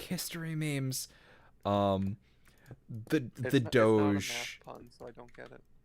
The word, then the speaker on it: Doge: is it though is it Doge I've heard it pronounced both ways but it's Doge um although so so